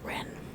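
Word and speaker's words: rn: As we do not know how ancient Egyptian was pronounced, we add an e to an r and pronounce it ren.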